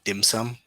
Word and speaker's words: dim sum: pho, and also the other food is dim sum.